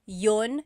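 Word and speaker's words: iyon: You might hear me saying yun yun as if there's no I and that's commonly how it's pronounced. You might hear people say but usually the letter I sound is dropped.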